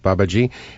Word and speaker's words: Babaji: That's how I pronounce it. Babaji.